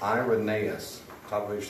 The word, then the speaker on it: Irenaeus: Irenaeus, that's pronounced Irenaeus.